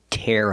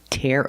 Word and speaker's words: tear: Tear up the paper. And the second one is tear. We use the ear sound like hear and beer.